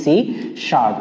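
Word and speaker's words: C#: থাকতে পারে সি hash এই হ্যাশ চিহ্নটাকে বলা হয় শার্প এজন্য এর উচ্চারণ হবে কি সি শার্প এছাড়াও দেয়া থাকতে পারে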